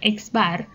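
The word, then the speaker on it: x̄: atau mint dinyatakan dengan x bar dibacanya eksbar ya x garis dibacanya eksbar eksbar = X1 ditambah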